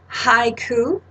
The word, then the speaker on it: haiku: So the word haiku is actually 2 syllables, hai and ku.